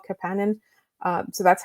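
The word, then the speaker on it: Kapanen: So I always thought it was Kenan. Um that's how we pronounce the other guys' names, but Oliver apparently would prefer to be called Capan.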